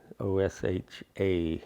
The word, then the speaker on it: Osha: So Osha is pronounced with an accent on the A, O-S-H-A with an accent, so it's Osha.